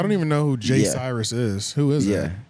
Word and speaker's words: Cyrus: I thought it was Cyrus. And the thing in your thing it says Cyrus, right? It's Cyrus. Oh well, they have them paired up. Is that how you spell it?